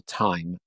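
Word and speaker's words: Thyme: better name than Table Time Designs. And time is spelled T-H-Y-M-E.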